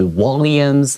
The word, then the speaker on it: Walliams: 又到了我们好书俱乐部的单元啦。我们今天要介绍的好书呢，叫做午夜帮。很多时候到了午夜，大家讲说，哇，要睡觉了，好可惜哦，要做点什么事情好呢？那我们今天这个主题呢，非常有趣哦，它的场景是设定在医院。那很多时候呢，在这个生病的时候，漫漫长夜很难度过。那 The Midnight Gang 午夜帮呢？好，我们看一下它的这个副标题，他说 David Walliams，好，这个 last name 比较特别一点，我们有听过 Williams 或是 Walliams，好，这两种发音都有可能出现。这是他的这个作者 and his literary influences 和他的文学启蒙。这个 literary 就是 literature 它的形容词 literary 就是文学的。好，所以这里的话呢，我们看到了这个作者的名字，还有午夜帮这个 title。Now, we have the word gang here.